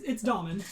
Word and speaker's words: Daimhin: It's Daimhin. Daimhin? Yeah. Oh, I thought it was Daimhin. It's Irish, so it's spelled very differently.